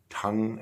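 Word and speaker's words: Tunng: It's the new Tongue album. That's how you pronounce it, T-U-N-N-G.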